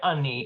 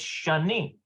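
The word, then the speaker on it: שאני: Seagal here do you it's like Shani like Chennai it's not honey it's Shani okay all right uh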